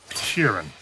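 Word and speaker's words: Sheeran: so than in the domestic sphere yeah Frank Kieran are saying that right yeah you said it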